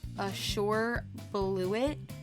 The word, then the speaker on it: Azure Bluet: The next flower that we have is the Azure Bluet. I think that's how you say it. Hey guys, it's Mayhem from the future. You actually pronounce it Azure Bluet. It almost sounds like I sure blew it.